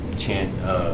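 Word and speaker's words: tanh: the hyperbolic tangent function tint it rhymes with Blanche so they say tan CH or hyperbolic tangent to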